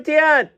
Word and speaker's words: Tiant: We got a Louis Tiant.